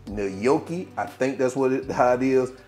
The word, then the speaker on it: gnocchi: particular uh pasta It's nooki I think that's what it how it is I would have called it g noi but I think it's nooki if I pronounce it wrong